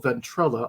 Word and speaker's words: Ventrella: This time we've got an interview with the author of The Beatles on the Charts, Ventrella. I hope I pronounced that correctly.